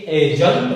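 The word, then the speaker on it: adjunct: यदि डी आ जाए, ए और जे के बीच में कहीं भी डी आती है तो डी को अपन साइलेंट रखते हैं, तो इसको एडजंक्ट नहीं बोल करके एजंट बोलेंगे।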